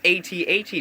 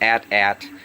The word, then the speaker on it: AT-AT: printing but about this 8080 driver helmet that I'm working on and I do say 80 80 driver not at-at because you know you've